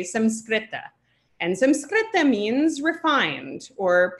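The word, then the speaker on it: संस्कृत: So if you really want to say it correctly, you say samskrita.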